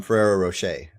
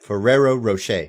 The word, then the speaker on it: Ferrero Rocher: telling it was the the chocolate here from Ferrero Rocher um say it right Ferrero Rocher no what go ahead that's how you say it no Ferrero Rocher ferero why are you you're adding like seven